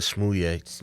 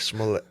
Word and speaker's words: Smollett: I almost said Smouye. Yeah. Darn you, Dave Chappelle. Because I almost called that lady Smouye. Smollett. There you go. I don't even know how to pronounce that name. Smollett. Because I keep saying Jussie Smouye. Smollett.